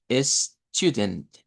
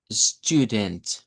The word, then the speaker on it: student: Pues en primer lugar una U larga, esa U nos indica una U larga, y luego tendríamos la schwa en la posición de la I, de la E. Student, ¿ok?